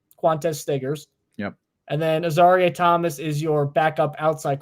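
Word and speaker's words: Azareye: Is it Azariah or Azarie? I believe it's Azarie. Azarie? Okay. Yeah, Azarie I've heard people say Azariah. I think those people are wrong.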